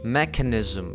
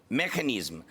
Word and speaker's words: mechanism: І так він вимовив слово механisзм, як механізм. Mechanism. Механізм. Зрозуміло чому. Тому що механізм в українській кажемо з буквою Х.